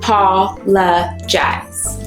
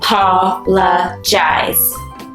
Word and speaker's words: apologize: the parts yes uh Paula jazz wow that word had four parts or four syllables that's a pretty big word do you think we could say it together uh Paula jazz which is the